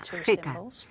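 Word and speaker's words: ḥqꜣ: Es prácticamente un garfo, o un cetro que se escribe con dos símbolos y se pronuncia jeca, que significa gobernador.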